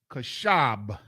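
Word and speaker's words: כֶּשֶׂב: See, when we spoke earlier, we talked about how they changed the ba into a va, a V sound, Right. which is ridiculous. There's no V sound in Hebrew.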